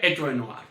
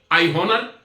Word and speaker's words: honour: नहीं है, HONOUR, या अमेरिकन में हो गया HONOR, नो, बट the correct pronunciation is honor because H is silent. How you speak? I honor. Or if you speak I honor, your pronunciation is 100% wrong.